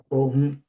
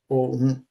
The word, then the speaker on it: òun: Now, to say he or she, you use òun, òun, òun, he, she, òun. That's the way it's pronounced, òun, òun.